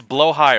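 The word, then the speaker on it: Blåhaj: It's blow high, right? It's like it's a funny Swedish word.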